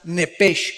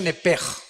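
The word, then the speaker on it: נפש: Digo, por favor, esta palabra alma en el original hebreo es la palabra nepes. Apúntala como suena nepesh con sh se pronuncia nepej.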